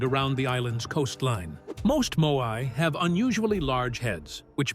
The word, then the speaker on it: Moai: The Moai, pronounced M-O-H-I, are massive stone figures carved by the Rapa Nui people on Rapa Nui between roughly 1250 and 1500 CE.